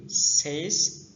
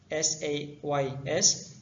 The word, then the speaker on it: says: چه که میبینید کلمه says S-A-Y-S همچون says تلفظ میشد. says نه says.